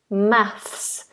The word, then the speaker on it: maths: weapon weapon maths maths so if you have trouble with the word maths you put the tongue between the teeth F and then you make the S inside so it's a movement of the tongue math maths maths okay